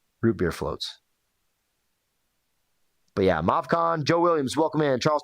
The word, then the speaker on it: Movcan: How you pronounce that? I say Movcan. I've heard Movcan. I like Movcan. Just rolls off the tongue a little better.